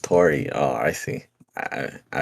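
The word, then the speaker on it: Tauri: into next js too oh it's pronounced tori oh i see i i i've been singing it wrong i know all right like founder says towery because he's you know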